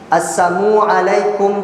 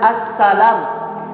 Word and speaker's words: Assalamualaikum: Assalamualaikum contohnya, atau diucapkan Assalamualaikum, bukan assalam. Yang benar apa? Assalam, pakai tasydid sa-nya.